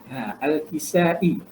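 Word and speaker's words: Al-Kisa'i: Cara baca dia Kisai, bukan Kisai ya. Al-Kisai.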